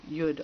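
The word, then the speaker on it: יוד: like a sperm the the letter yud also can be pronounced Yad which means arm or hand like shows on the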